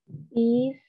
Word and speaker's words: east: When you have two vowels that are side by side or next to each other, the one you pronounce is the first vowel, E, and we give it that long sound. And the second vowel, A, we do not pronounce it. It is silent. So this is east.